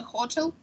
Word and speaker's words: hotel: the airport to the hotel mhm Hotel mhm stress is on second the second syllable um Marica is uh